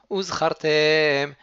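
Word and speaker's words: וזכרתם: commence par un aleph, il faut bien prononcer le aleph pour ne pas avaler les mots et les faire comme si en fait ils étaient ensemble, un seul mot. Uzchartem et kol misvot Adonai.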